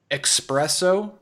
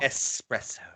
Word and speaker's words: espresso: pronounce similar words wrong another one expresso or there's no x in it there's no x in that word not at all espresso yep how how about